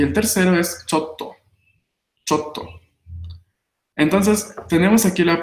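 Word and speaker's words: ちょっと: Chotto Oh, atsui desu. Entonces, así la va contraída. Pequeño tsu para doblar la consonante T y sílaba to, ¿no? Entonces, chotto.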